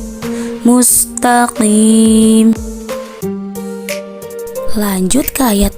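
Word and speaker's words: مُسْتَقِيمَ: Padahal huruf qaf itu termasuk ke dalam huruf isti'la, yaitu pangkal lidah naik. Jadi cara membaca huruf isti'la itu dibacanya tebal, tidak tipis, walaupun dia berharokat kasroh. Cara membaca yang tepat adalah ihdinas siratal mustaqim.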